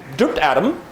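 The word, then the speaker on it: drbdadm: By the way, you're welcome to pronounce it drupt because that's just shorter. And in that case, by the way, linguistically, the R becomes a vowel because a vowel is defined as any sound that can bear the stress of a syllable. So in that case, drupt R vowel.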